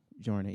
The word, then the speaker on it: Journée: So, Journée, am I saying this correctly? Journey, yeah, you said it right.